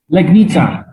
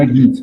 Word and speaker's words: Legnica: Did I pronounce that correctly? Legnica, Poland. Legnica.